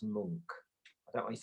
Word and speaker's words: Munch: The Scream by Edvard Munch, the most famous. That's actually pronounced Munch.